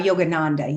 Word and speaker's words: Yogananda: his teachings how do you how do you pronounce the the teacher yo yogananda yeah yogananda yes yes just really briefly um from his